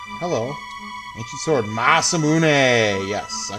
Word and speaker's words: Masamune: Ma Masamune is definitely the correct pronation.